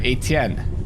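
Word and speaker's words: Étienne: pick Alexander really yeah Etienne you're saying it right it just sounds right okay I feel like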